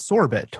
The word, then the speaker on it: Sorbet: what sorbets is sure we pronounce it sorbet maybe I'm Canadian originally so my and my French accent can can drive a little bit more in there it's it's named after the the delicious dessert so yeah sorbet is